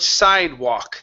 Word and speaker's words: sidewalk: go to the word sidewalk the l will not make a sound ok when you were pronouncing